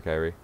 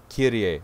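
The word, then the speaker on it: Kyrie: Don't be nice to her, Kairi. Kirie, that's right, her name's Kirie. I forgot. I only recently learned that now that there's voice acting and they properly pronounced her name. It's Kirie.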